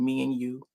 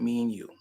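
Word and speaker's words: Mianu: It's called me and you. Uh, it's spelled M I A N U. That's how it's spelled. And she called it me and you.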